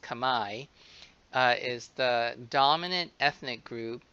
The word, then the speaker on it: Khmer: As I mentioned in the end of discussion two, Khmer, you might want to say Khmer, but it's pronounced Khmer, is the dominant ethnic group in Cambodia.